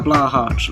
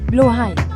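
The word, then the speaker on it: Blåhaj: IKEA to get a Blahart. Like, I know it's pronounced Blahai.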